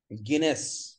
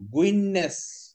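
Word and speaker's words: Guinness: আচ্ছা, গিনেস, এটা হচ্ছে world record, গিনেস book, but এটাকে আমরা উচ্চারণ করব গুইননেস। হ্যাঁ, গুইননেস মনে থাকবে, ডাবল এস থাকার কারণে এসটা লম্বা করব, গুইননেস মানে কি উচ্চ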